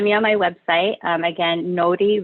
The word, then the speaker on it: Nori: Again, Nori Reiki, N-O-R-I, but you pronounce the R like a D.